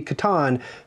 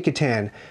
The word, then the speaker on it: Catan: And I, by the way, it's pronounced correctly Catan, but I say Catan because I have a beard.